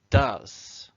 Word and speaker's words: does: goes and do becomes does so remember with do you change the spelling but you also have to change how you say it do becomes does with the present simple